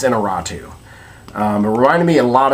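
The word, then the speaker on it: Iñárritu: I'm never sure of how to say his name, but I believe it's Inarritu.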